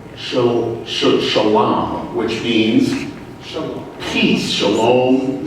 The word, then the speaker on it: shalom: Shalom is how it's pronounced usually.